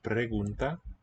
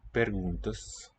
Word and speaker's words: perguntas: Note the metathesis. Not pregunta, but perguntas. 20 questions.